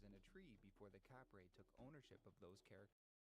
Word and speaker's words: Kapre: Their phonological alteration pronounced it Kapre. The early 20th century was also the first time that The phonological thing is there being no f in Tagalog traditionally. So the p, just like in Korean, that you would